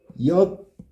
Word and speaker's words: 피었다고: 피었다고는 피었다고 발음해 봐. 피였다고.